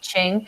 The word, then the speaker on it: Qing: The Q is pronounced CH. Thank you so much. Okay, Qing.